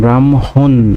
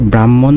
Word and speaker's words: ব্রাহ্মণ: ব্রাহ্মণ ব্রাহ্মণে বারনানে বয়র ফলাকার মহসন্ত হওকাদন্ত নাম ব্রাহ্মণ উচ্চারণের ক্ষেত্রে আমরা এভাবে বলি কিন্তু উচ্চারণ হবে ব্রাহ্মণ বানানটা এরকম আর উচ্চারণ করছে এভাবে হবে ব্রাহ্মণ